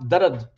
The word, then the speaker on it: Dard: Actually, it's pronounced darad, like pain, you know.